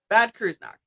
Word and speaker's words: Bad Kreuznach: Bad Kreuznach. It's in Germany. So John spent his teenage years there, and he attended the Bad Kreuznach American High School, which was on base, with